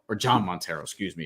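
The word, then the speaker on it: Jhon Montero: at all maybe two-way contracts and such but g montero or john montero excuse me it's pronounced john he's dominican i should know that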